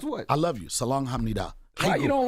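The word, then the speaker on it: 사랑해: to use that word salang do that's how you pronounce it in Korean next question pronounce what pronounce what I love you salang H you don't like love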